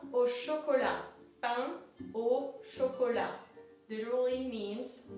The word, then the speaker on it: chocolat: Pain au chocolat literally means bread at chocolate. Some people here call it chocolate croissant. It's a pain au chocolat. There's a T at the end of chocolat, but you don't pronounce it.